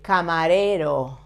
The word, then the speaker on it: camarero: El camarero, two R's, but there both are soft. Camarero. Your tongue back, avoiding to touch your palate or your teeth.